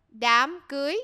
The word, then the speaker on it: Đám cưới: Đám cưới. Đám cưới. Đám cưới. Đám cưới. Cưới with a G or? G, yeah. Đám cưới.